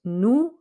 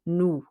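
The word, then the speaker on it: nous: say the s on nu however because it's followed by a vowel we will say that s but it makes a z sound but don't pronounce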